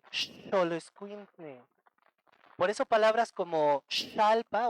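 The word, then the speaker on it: xoloitzcuintle: Y por último tenemos la X, que la X siempre va a sonar como en esta palabra, que es, ¿cómo se pronuncia esto? Eso, oso, como si fuera una SH, xoloscuintle.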